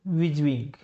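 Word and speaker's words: WYSIWYG: एक short form है इट इज a pronounce as विज विंग तो इसे याद कर सकते हो ऐसे विज विग के नाम से विज विग and basically means that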